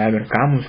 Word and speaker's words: Albert Camus: Me dieron el libro El extranjero de Albert Camus, o Albert Camus, como se pronuncia, en una versión grande que tenía tapa